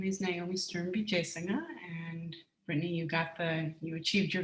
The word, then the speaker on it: Sturm-Wijesinghe: So my name is Naomi Sturm-Wijesinghe, and Brittany, you achieved your goal of the last name pronunciation.